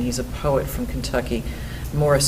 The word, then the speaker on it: Maurice: a poet from Kentucky Morris spelled like Maurice and uh he's a